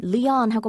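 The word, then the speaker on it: LÉON: 노래를 따로 검색하시는 분들은 영화 레옹의 그 레옹하고 철자가 같습니다. 우리는 리언하고 발음을 하고 있죠.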